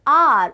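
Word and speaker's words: hour: Okay, so yes, the starting alphabet that is we are having here is H. H, yes, it's one of the consonant, but when we are having the sound, when we are having the pronunciation, then we can say that we are having a vowel sound, because what is the pronunciation? The pronunciation of this word is R. Okay, so starting sound we are having vowel sound, and according to that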